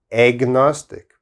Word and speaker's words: agnostic: it's very strange pronunciation agnostic there's an a here but it sounds like egg like egg agnostic agnostic and what does agnostic